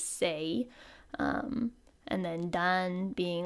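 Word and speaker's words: 星: So this is the kanji for star pronounced as sei.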